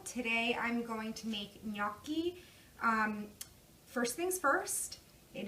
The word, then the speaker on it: gnocchi: like me okey but please the G is silent it is not under any circumstances pronounced Ghannouchi the italian and me